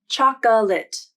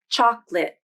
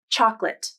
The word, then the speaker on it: chocolate: should be three syllables chocolate but there isn't the middle vowel has been dropped and it's just two syllables chocolate this one is a requirement i've never heard anyone pronounce this word as chocolate so you should pronounce